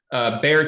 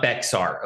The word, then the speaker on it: Bexar: And I'm not pronouncing it wrong. It's not Bexar, okay? It's just they spell it weird.